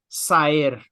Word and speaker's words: Saer: O autor desta obra é Juan José Saer, ou como dizem os santafesinos, Saer.